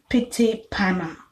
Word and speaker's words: Pyttipanna: And then there is Pitipana, which is spelled Pyttipanna.